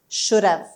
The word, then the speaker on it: should have: یعنی کامل have رو تلفظ نمی کنیم. میچسبونیمش و اصلا مثل اینه که hش رو حذف کنیم. میگیم could have, should have, would have, might have. میبینید h رو نمیشنویم.